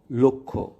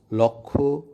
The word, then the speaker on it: লক্ষ্য: আদ্য অ বা শব্দের শুরুতে অ এর পর ক্ষীয় অর্থাৎ ক যুক্ত মূর্ধন্য স অথবা জ যুক্ত ইয় থাকলে উক্ত অ সাধারণত সংবৃত বা ও এর মতো উচ্চারিত হয়। যেমন অধ্বনির পর ক্ষীয় যোগে লক্ষ্য বা পক্ষ এবং অধ্বনির পরে জ ইয় যোগে যজ্ঞ। এ শব্দগুলোর উচ্চারণ লক্ষ্য, পক্ষ বা যজ্ঞ নয়।